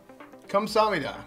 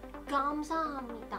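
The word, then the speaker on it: 감사합니다: Wait, is it Kamsahamnida or Kamsahamnida? Gamsahamnida. Oh, gam with a G. Gam, a G. Oh, Gamsahamnida. And then you shoot like this. Gamsahamnida. I was saying it wrong forever, my whole life.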